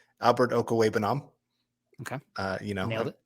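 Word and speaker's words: Okwuegbunam: Albert Okawa. Okay. Nailed it. It's always fun to listen every week to them try to pronounce that name, and man, they have an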